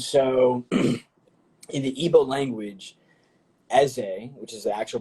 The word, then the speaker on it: Eze: Yeah, I'm Igbo, and so in the Igbo language, Eze, which is the actual pronunciation, means king, and so like kind of like our business strategy is war based.